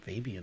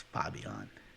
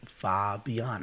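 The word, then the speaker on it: Fabián: name what is that it's it's fabion it's like okay well that's what i want to call you it's far beyond i can say it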